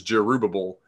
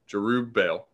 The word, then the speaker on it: Jerubbaal: But I think that we're using too many syllables. I don't think that's an accurate. It doesn't look like Jerubbaal. I know, and that's all I heard it. And like I see what they're doing, but it's like you're adding syllables unnecessarily.